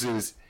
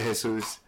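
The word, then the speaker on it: Jesús: It's so weird too, because I pronounce it Jesus, but then, if I went to an American, they would be like, hey, it's Jesus. And it's so weird people calling me Jesus.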